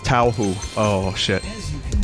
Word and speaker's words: Touhou: Then it's pronounced Touhou.